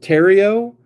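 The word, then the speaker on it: Theriot: One of your first successful returns was Ryan Tero. That's a good cubby right there. Funny thing about Ryan is his name is pronounced Tero, but it looks like the Riot.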